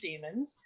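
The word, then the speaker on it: daemon: about why you use they're they're pronounced the same uh but uh d-a-e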